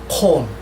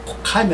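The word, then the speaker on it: ויקם: 그 다음에 바이아 콤, 콩으로 발음합니다. 캄이 아니라 바이아 콤.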